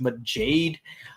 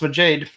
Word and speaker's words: Majade: Reen's Dawn transform maade and yes it is pronounced maade uh I I actually try looking into it uh let's let's see mud Jade uh let's take a look see yeah it's yeah it's spelled it's pronounced maade I just checked the IPA and IPA is